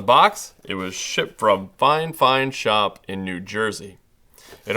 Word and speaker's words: FiFine: me how to pronounce the company name which is fine fine apparently though it looks like fi fine and also making sure